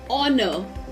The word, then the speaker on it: honor: But when we pronounce these words, we say honest, are, honor, which is a vowel sound.